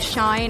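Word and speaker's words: Shein: from a website called Cheyenne I think that's how you say it SH ti n and so this is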